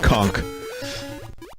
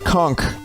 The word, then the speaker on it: conch: got the conch horn i was very specific of uh enunciating the n in the word conch and yes in the bahamas they pronounce it conch not conch all right